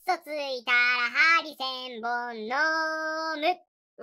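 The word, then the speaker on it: 針千本: でうついたら針千本のイントネーションやと魚の方になるけど針千本飲まさ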